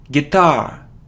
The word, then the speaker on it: guitar: tomato a tomato so it isn't guar it's guitar guitar so the stress is on the second syllable guitar it isn't Isel or